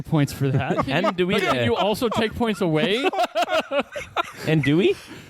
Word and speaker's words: andouille: Andouille. Andouille. Andouille. Andouille. I will give you points for that. Can you Andouille.